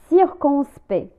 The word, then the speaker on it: circonspect: circonspect circonspect circonspect لا ننطق لا لتر الحروف CT في آخر كلمة.